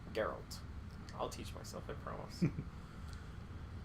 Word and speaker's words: Geralt: different versions of um geralt or Gerald I'm gonna say his name wrong the whole time it's geralt geralt I'll teach myself I